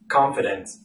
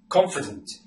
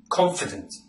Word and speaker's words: confident: this word confident and the letter e should be almost silent confident confident after reading this comment